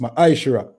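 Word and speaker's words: מעשר: verse 8 to 10, means tenth in the Hebrew and is pronounced ma'ashra.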